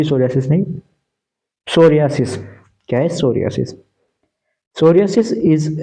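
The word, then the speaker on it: psoriasis: 2021 में सोरिस अब य पर प क्या साइलेंट है इसको यह नहीं कि पी सोरियास प सोसिस नहीं सोरियास क्या सोरियास सोरियास इज a chronic रिकेंट inflammatory disease of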